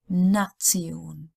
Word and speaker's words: Nation: A lot of words end in T-I-O-N, and that's pronounced like Zion. So it's almost like a T-S or T-Z even, Zion. Adoption, Dokumentation, Funktion, Nation.